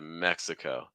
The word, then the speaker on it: Mexico: Latin language friends um for that final o sound it's going to be very open especially compared to like for instance like Spanish at the end so it's not going to be oh oh it's gonna be oh oh really try to extend the breath don't stop the breath like Mexico Mexico you know we're not